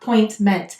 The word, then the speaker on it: appointment: the next thing is notice this said it's schwas sound uh appointment so it's saying it schwas sound in an unstressed syllable we're stressing Point appointment so here it's saying it's lazy sound the next word is